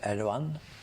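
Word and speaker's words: Erdoğan: that the prime minister erdogan the g is silent in Turkish it's I don't know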